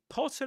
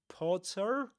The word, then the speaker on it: Potter: Potter and granger end with a schwah. Potter. Granger in British English. You don't say porter nor granger.